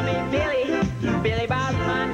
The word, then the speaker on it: Billy Bob: Now, folks, my name is Billy Bob, and that's spelled with 3 B's, 2 L's, an I, a Y, and an O. And you can remember my name because it rhymes with Jibby Job and Flippy Flop.